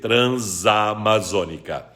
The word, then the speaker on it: Transamazônica: tenho essa no final se a palavra seguinte iniciar por vogal o essa esse junto a vogal e aí são dizer Transamazônica se a palavra seguinte iniciar